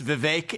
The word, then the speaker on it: Vivek: for the longest time it's Vivek it rhymes with cake I'd expect someone of